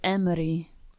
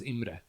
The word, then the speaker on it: Imre: Well, normally it's pronounced Imre. Imre. Yeah. I So thought it close was enough. for like the Oh, no, longest. people are like, Yeah. Imre.